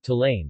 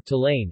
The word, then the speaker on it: Stollen: Stollen, German pronunciation, Tollen, listen, or Tollen, listen, is a fruit bread of nuts, spices, and dried or candied fruit, coated with powdered sugar or icing sugar.